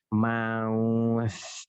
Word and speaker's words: mouth: Bacanya adalah mouth. Ada lidahnya keluar.